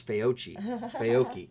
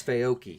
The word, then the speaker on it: Fauci: in the news uh it's pronounced fouchyams i thought it was feyochi it's fayoki like a coffee you know what i